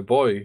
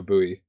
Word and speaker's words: buoy: or for you a buoy wait you don't say buoy no it's a boy how do you spell it b u o y so buoy no it's Bo no okay a buo was